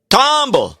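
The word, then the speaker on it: Tomball: How would you How do you pronounce that little town in Texas? Tomb. Tom. Okay. with that accent. You got to do that. Tumble.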